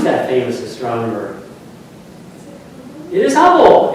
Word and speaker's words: Hubble: It is Hubble. It's Hubble Bubble. Yes. Hubble Bubble cuz it rhymes.